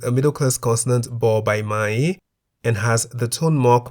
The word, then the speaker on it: ม้า: On the other hand, we have Ma, meaning horse, in the high tone because the single syllable in the word Ma begins with a low-class consonant Ma and has the tone mark Mai To.